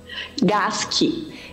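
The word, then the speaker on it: Gasche: Como se pronuncia seu sobrenome? Gasque. Gasque. Isso. Olha, é agora eu não esqueço mais. Tem o S-C-H, geralmente a gente come o C.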